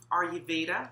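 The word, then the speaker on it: Ayurveda: days now if you know anything about uh are you veda that's spelled a a-y-u-r-v-e-d-a then you will learn or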